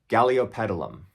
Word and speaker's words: Galeopetalum: How many of y'all can pronounce Galeopetalum? Take a minute there, just to appreciate the beauty of that word. Galeopetalum.